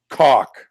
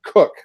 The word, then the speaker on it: Koch: same last name and she pronounced it cook which is what it means in German anyway but I was like no that's not the way my grandpa said it but if net in